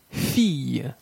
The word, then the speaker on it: fille: La combinaison consonne plus ILL peut se prononcer soit consonne plus Y ou consonne plus LL. Fille, fille, bille, bille, cheville, cheville, ville, ville, bacille, bacille.